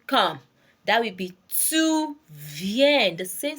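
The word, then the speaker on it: viens: on Jo ven ven that's ven is spelled as v i e n s v i e n s ven Bravo I come okay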